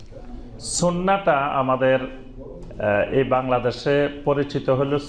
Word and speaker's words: সুন্নাহ: সুন্নত বললে সবাই চিনে। সুন্নাহ বললে আবার অনেকে নাও চিনতে পারে। সাধারণ মানুষ। তো এজন্য বেশি পরিচিত আমাদের দেশের সুন্নত নামে। কিন্তু এটা শুদ্ধ আরবি উচ্চারণ হল সুন্নাহ।